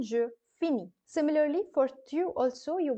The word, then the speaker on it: finis: because you put the IS ending, and the pronunciation je finis.